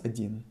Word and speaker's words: один: hear how I pronounce Adin Adin instead of O I'm pronouncing a Ain there is a rule for this if o is uh not emphasized in a word we pronounce it as a it is the simplified